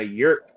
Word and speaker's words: yrp: In ancient Egypt, you have the cults of Isis and Osiris, and they're drinking a yerk wine. It's spelled YRP.